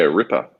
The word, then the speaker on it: ripper: money okay ripa yeah ripper ripper like jack the ripper a killer yeah it's spelled the same way as jack the ripper but um yeah very